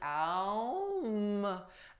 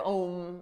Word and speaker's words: Om: It's also pronounced Aum, Aum, instead of Om, like rhyming with home. Sanskrit people, they pronounce it with two syllables, Ah and Oh, Om, Aum.